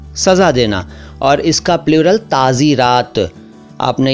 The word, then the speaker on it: ताज़ीरात: भी और वैसे भी, ताज़ीरात। तो ताज़ीर का मतलब है सज़ा देना और ताज़ीरात का मतलब हिंदी में बताऊं तो दंड विधान, पीनल कोड। ताज़ीर, ताज़ीरात, इसको ताजीर और ताजीरात ना कहें, ताज़ीर, ताज़ीरात।